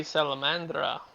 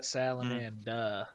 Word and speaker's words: Salamanda: This would have to be Salamandra understanding that something is Sa- yeah. strange. Salamanda. There is no R. Salamanda. Y'all using an R.